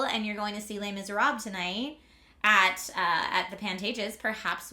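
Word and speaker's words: Les Misérables: Yeah, Les Miserables. If you want to have more of an accurate French pronunciation.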